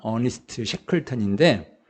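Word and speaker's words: Ernest Shackleton: 이분은 그 어니스트 셰클턴이라고 읽습니다. 어니스트 셰클턴인데 그 영국의 남극 탐험가예요.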